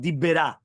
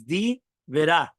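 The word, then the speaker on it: די ברא: The words Divera should be pronounced as 2 words and not Dibera. It's not 1 word. It's Divera.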